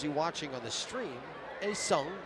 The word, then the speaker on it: 혜성: A Seong is how you pronounce that.